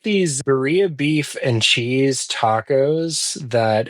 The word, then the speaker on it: birria: I guess I'm pronouncing birria. You got to have the R in there.